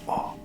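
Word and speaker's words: お: line here a little Dash so this one's all okay guys hope you guys are taking notes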